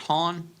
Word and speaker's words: Hahn: Now, you had, is it pronounced Hahn? Yes.